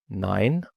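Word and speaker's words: nein: ماين يعني بتاعي داين يعني بتاعك فيبقى داين 9ين يعني لا بالانجليزي اقول لك انت جاي النهارده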